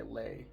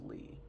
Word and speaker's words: Bushmore: Did I say Lee Bushmore, or did I say Lay? Because it's Lee. That's how you pronounce that.